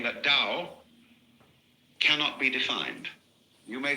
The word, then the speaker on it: Tao: it's called Daoism this character in Chinese is pronounced Dao Tao you would think it was pronounced to